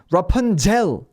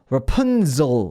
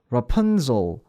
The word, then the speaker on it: Rapunzel: 발음이 오히려 가까운 거고, S에다 진동을 더하면 Z다라고 생각하시면 되는데, 그래서 Rapunzel이 아니라 Rapunzel, 이런 모기 소리라고 생각하셔도 좋고, 아니면 왜 그리 우리 핸드폰 진동 오는 소리라고 생각하셔도 좋고, 요런 느낌으로 Rapunzel, 발음 연습해 보시면 될 것 같아요.